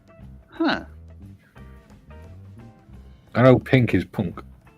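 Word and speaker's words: pwnc: I know pink is punk p n k uh no p w NC so in Welsh the letter W is pronounced as a oh like you know like a lowercase U Punk right they're a weird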